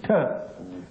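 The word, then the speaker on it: qi: Chi is it is pronounced with a T sound. Chi.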